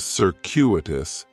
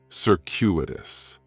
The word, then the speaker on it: circuitous: like, is circuitous, and circuitous has 4 syllables, and there's a few things going on with the pronunciation. In the first syllable, that C is going to have more of an S sound, circuitous. The stress is going to be on that second syllable, and that CU is kind of like you're saying the letter Q, circuitous, circuitous. Circuitous is talking about a